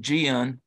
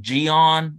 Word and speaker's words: Gian: I always called him Jian but his the way you're supposed to say his name was like Gian his mom like rhymes with Leon like that's the West Virginia way of saying Giancarlo and he was from